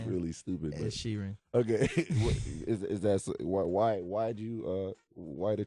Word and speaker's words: Sheeran: Oh, Ed Sheeran. Is it Sheeran? Or Sharon? Sharon? Ed Sheeran? Is it Sheeran? Look at this guy. I said it right? Is that Sheeran? You said Shireen.